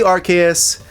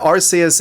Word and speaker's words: Arceus: So, stop presenting your obscure as hell Archus as evidence for your wrong pronunciation. If it was truly Archus, it'd be spelled differently.